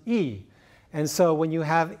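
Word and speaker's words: 이: Okay, so in Korean, 8 is pronounced pal and 2 is pronounced e.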